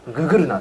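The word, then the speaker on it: GGRNA: きましたね GGR NA って言いますググルなって読みますこれありがとうございます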